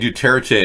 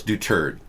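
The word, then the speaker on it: Duterte: okay thank you because I've been saying doTERRA che and I've been mispronouncing his name Doug do turd you know yeah so it's do turd thank you so he's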